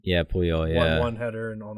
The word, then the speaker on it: Puyol: After that, 1-0 Pujols, Puyol, how do you say his last name? Yeah, Puyol.